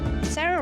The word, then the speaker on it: Sarah: Sarah or Sara? Am I always saying it wrong? It's Sarah.